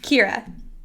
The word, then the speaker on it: Keira: Keira.